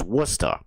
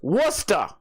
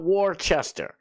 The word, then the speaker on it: Worcester: It's pronounced Worcester. The glarer. It's pronounced Worcester. I'm sorry. I know it's weird. It's not Warchester.